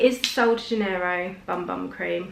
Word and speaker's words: Bum Bum: But it is the Sol de Janeiro Bum Bum Cream. It's actually pronounced Boom Boom, but it says Bum Bum.